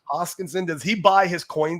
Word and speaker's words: Hoskinson: I don't think Charles Hopkins. I always say his name wrong. I think it's Hoskinson. Hoskinson.